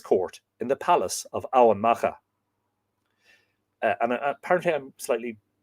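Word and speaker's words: Emain Macha: in the palace of Owen Macha. And apparently I'm slightly not wrong, but slightly nuanced on that. It can be pronounced Owen Macha, which is Navan Fort, just outside the modern city of Armagh.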